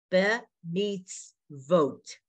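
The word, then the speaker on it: בְּמִצְוֹת: So it's be meets. Now there's a Shiva under the Tzadi. So the V is his own letter and his vowel is an O and he has a T. Be meets vote. But when you're on the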